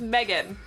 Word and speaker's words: Meagan: And I was like, "Oh, it's Meagan." It's Meagan, but it's spelled M-E-A-G-A-N.